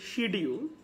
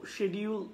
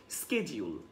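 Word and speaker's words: schedule: আসলে কেউ বলে শিডিউল, যেটা বাংলাদেশে আমরা সাউথ এশিয়ানরা ইউজ করে থাকি. সো শিডিউল বলা যাবে না, এখানে বলতে হবে শেডিউল. আর যেটা হচ্ছে ইউকে প্রোনাউন্সিয়েশন, একই সাথে আপনাকে বলতে হবে স্কেজিউল. আপনি যদি আমেরিকান প্রোনাউন্সিয়েশনটা করেন তাহলে স্কেজিউল. এবং আমি সেখানে ফনেটিক যে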